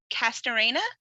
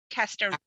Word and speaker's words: Castorena: Castorena? Castorena.